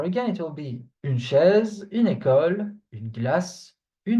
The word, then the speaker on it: chaise: So we have une chaise, une chaise. You hear me? So S, when it is between two vowels, it's pronounced Z, like a Z sound, okay?